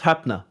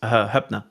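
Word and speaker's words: Hoepner: That's Hupner. Hupner. O and E means O, so it's Hupner.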